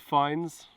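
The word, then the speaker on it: Fiennes: My brother's called Fines. Is he sponsored by Fine? He's actually not. It's spelled F-I-E-N-N-E-S.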